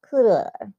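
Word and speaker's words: Coeur: CDE, And that's spelled C-O-E-U-R. Cooler.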